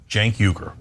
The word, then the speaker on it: Cenk Uygur: Cenk, this is pronounced like a J, Cenk, and then Uygur, Cenk Uygur.